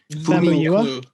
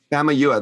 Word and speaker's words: Famuyiwa: It's Rick Famuyiwa. Famuyiwa, that's right.